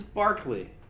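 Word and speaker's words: Berkeley: lose that page and by the way the pronunciation is Barkley but the college in California named in his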